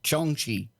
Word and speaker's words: jiangshi: there are Asian vampires such as the Chinese jiangshi pronounced Chong Chi evil spirits they attack people and drain their